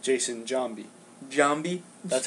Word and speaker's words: Giambi: you know this is why Jason Giambi was pronounced Jason Jambi Jambi that's how he wanted to pronounce so